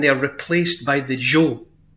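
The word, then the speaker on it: Zhou: of steam and they are replaced by the Jo z h o u the Z and they're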